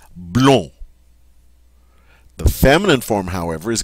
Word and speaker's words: blond: So, the masculine singular form is just simply going to be blown.